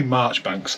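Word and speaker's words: Marjoribanks: It was actually, I think you pronounced it Marchbanks, but I'll tell you how it was spelled. It was spelled Campbell. His name was Campbell Major Ibanks, but you say Marchbanks.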